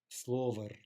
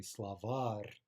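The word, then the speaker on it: словарь: So, for example, if this word were slover, then we would have no reason to think it could possibly be an in-stress noun, but it's actually slavar, right? Stress on the final syllable.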